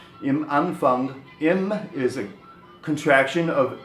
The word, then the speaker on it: Anfang: Im Anfang, Anfang is beginning, of course, in any context, and you must be conscious to pronounce that G a little bit throatier than an American would. Im Anfang. Im Anfang.